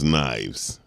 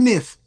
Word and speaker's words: knives: Like I to this day, I can never understand why knives start with a K. Right? No, for real. It's easier. It's easier for an Englishman to pronounce knives.